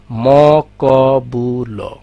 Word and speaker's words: মকবুল: দেখা যাক, এখানে কিন্তু চারটা অংশ আছে, ম ক বু ল, তাই না? কিন্তু আমরা যখন উচ্চারণ করি, উচ্চারণ কিভাবে করি? মকবুল, দুইভাবে উচ্চারণ করি।